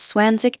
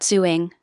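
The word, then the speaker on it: zwanzig: Remember to pronounce Swanzig carefully, it's not Zuing.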